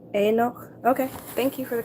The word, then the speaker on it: Enoch: It's pronounced Enoch. Okay, thank you for the correction. I appreciate that. Enoch.